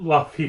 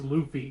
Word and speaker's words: Luffy: I believe correct okay and it is not lucky for the love of God it's Luffy Luffy okay sorry Luffy did I pronounce Aaron Yeager right yeah I believe you